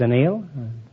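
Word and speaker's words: anneal: I beg your pardon it's analed it's it's an Neal I thought it was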